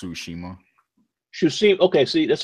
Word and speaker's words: Tsushima: punch game ghost of to see me you said Gary that's the name of it yeah it's pronounced Tsushima you see okay see